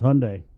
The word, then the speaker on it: Hyundai: It's Hyundai. Yeah. Hyundai rhymes with Sunday, Jay.